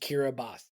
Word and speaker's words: Kiribati: awesome yeah 184 for him was uh Kiribati kiras kir oh are you saying it in Spanish uh kirati is how it's spelled but for some reason it's pronounced kiras a little trivia for you interesting it looks